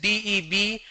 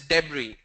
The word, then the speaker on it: debris: The spelling is D-E-B-R-I-S. But the pronunciation is debris.